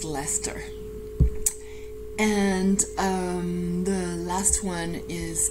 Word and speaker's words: Leicester: es de R but it is pronounced Lester and the last one